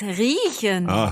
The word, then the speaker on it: riechen: I thought that was reichen. No, careful. That's riechen. Okay.